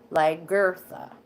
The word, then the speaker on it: Lagertha: And I just pronounced it like that, so you understand that in the middle it's Lagertha.